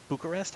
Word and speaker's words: Bucharest: Yeah, so that's top 4 teams competing in DreamHack Bucharest. How do I pronounce that?